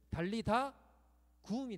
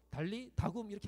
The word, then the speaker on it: 달리다 굼: 그러니까 우리는 달리다굼이라고 하는데 그렇게 하면 안 돼요. 그러면 소녀 야 일어나 이렇게 되는 거예요. 원래는 달리다 굼이 되는 거예요. 그게 자연스러운 이제 어순인 거죠. 달리다 굼이 되는 거예요. 소녀야 일어나라 이렇게 발음합니다.